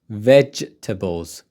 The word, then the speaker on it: vegetables: slicing so slice what vegetables j j j sound vegetables vegetables slice vegetables in the